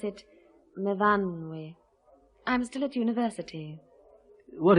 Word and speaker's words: Myfanwy: We pronounce it Myfanwy.